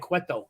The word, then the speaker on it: Cueto: Because you pronounced Manoah and Cueto correctly.